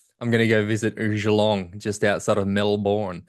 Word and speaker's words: Geelong: going to go visit Geelong just outside of Melbourne. It's a habit of mine to see a word like that and assume it's French and have to pronounce it in a French way.